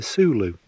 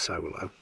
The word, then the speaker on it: Soulo: sand colored hilleberg because i'm out in the zulu now i know it's pronounced solo so you don't need to comment on that